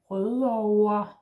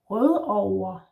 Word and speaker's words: Rødovre: And the V in over is not really a V. You don't need to really bite your lip here. It's more like a W or an U kind of sound. Over. Note here I'm saying over, but actually most people say O-A. Rødover. So almost like an ER, or like an ER ending, like we talked about in another video, yeah?